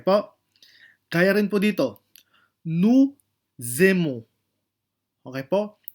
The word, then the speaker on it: nous aimons: Kaya rin po dito, nous aimons. Okay po? Nous aimons. Yan po ay magiging zay pag ipopronounce po natin.